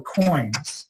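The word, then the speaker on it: quoins: These are what are called the coins, spelled with a Q.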